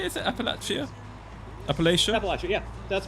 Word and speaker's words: Appalachia: Appalachia?